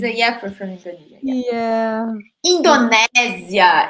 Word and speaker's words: Indonésia: Indonésia in Portuguese. Okay, guys? Indonésia. Just for you to pronounce it.